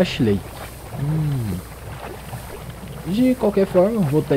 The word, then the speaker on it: Ash Lake: Ash Lake ou As Lake? Essa é Ash Lake.